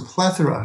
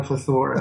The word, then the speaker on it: plethora: It was a plethora, not a plethora. I did those wrong accent on the syllables.